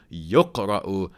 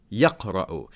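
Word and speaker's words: يُقْرَأُ: were still being recited, is with the ya of recited pronounced with a dhamma. So yuqra'u, not yaqra'u. Its meaning is that the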